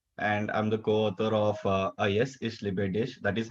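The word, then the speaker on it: A Yes Ich Liebe Dich: I'm the co-author of Ayes Ish Libedish. That is how it's pronounced.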